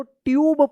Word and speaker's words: tube: TUBE, देखिए यहां पे रूल से कि जब लास्ट में ई रहता है और ई से पहले अगर यू आता है तो यू का उ या यू उच्चारण होता है तो क्या पढ़ेंगे? इसको ट्यूब पढ़ेंगे।